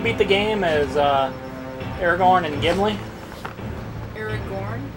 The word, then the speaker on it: Aragorn: the game as uh aragorn and gimli aaron it's that's how it's spelled anyways that was aragon didn't you well yeah you know aragon is e-r-a-g-o-n and that's the dragon rider which i wish they'd